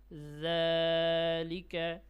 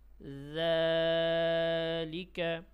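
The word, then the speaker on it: ذال: আল আল ইল উজ আল ইজ উজ জালিকা জালিকা আলহাবা আলহাবা আলহাবা ফাজালিকা ফাজালিকা জালের উচ্চারণটি খুব সতর্কতার সাথে উচ্চারণ করতে হবে। অনেকে আছে জালের উচ্চারণটি একটু শক্ত করে ফেলে। জাল বলে ফেলে নরম করে জাল জাল।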